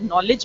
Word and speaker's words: knowledge: अगर knowledge में K है, पर K pronounce होता नहीं है.